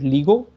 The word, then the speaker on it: LIGO: By the way, a lot of people read LIGO and call it LIGO. It's not how it's to be pronounced.